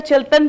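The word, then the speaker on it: Chiltan: अगर अवेलेबल नहीं है तो ये वेबसाइट भी आप देख लीजिएगा, चिल्तन प्योर, इसको प्रोनाउंस करते हैं चिल्तन।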